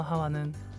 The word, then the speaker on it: 하와: 아담과 하와 어 이거 하와는 다른 사람 인가요 아니요 이브가 하고 하와가 2부 입니다 히브리어 발음으로는 하와 영어 발음으로는 이브인 것이죠 다시 이야기로 돌아가 보면